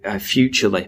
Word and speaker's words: Futrli: of one of them, Futurely, but it's spelt a really weird way, Futrli.